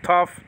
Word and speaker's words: tau: nowadays called ipsilon okay tau nowadays called tough so that's how it sounds the name is sort